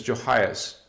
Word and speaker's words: Joas: it's not in here oh joas pronunciation is joas so not Mary and